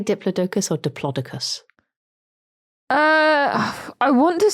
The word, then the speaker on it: Diplodocus: If following the Greek rules, the correct pronunciation should be Diplodocus with a soft O to rhyme with Liplodocus.